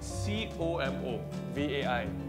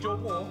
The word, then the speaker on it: Como vai: It's spelled C-O-M-O. V-A-I. So it could be chomo. Como vai? Or como? Como vai? Chomo sounds more Malay.